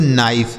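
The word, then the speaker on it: knife: आगे लिखा के एन आई एफ ई से पढ़ा जाएगा बच्चों नाइफ।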